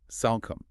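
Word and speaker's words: Salcombe: You don't try to sound the e or make the o a long vowel. It's a simple short o sound.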